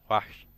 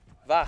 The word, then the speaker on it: wach: Die Crusaders stehen wach. Wash, What? wash. It's a W. No, W is pronounced as V. Oh, word. Wach.